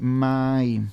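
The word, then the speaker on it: מים: Se menciona así, Maim, ¿ok?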